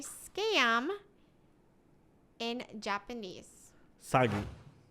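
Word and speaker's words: 詐欺: say scam in japanese sagi oh that's easy saggy yeah that's how you remember sagi it's just with him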